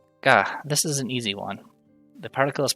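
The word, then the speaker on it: を: Ga, this is an easy one. The particle is pronounced the same as the regular syllable. O, the particle represented by wo, is actually pronounced o instead of wo.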